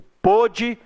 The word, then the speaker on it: pôde: O pode, você pronuncia com som aberto. O pôde, você pronuncia com som fechado. Então esse acento circunflexo está aí para dizer que o som ali é fechado.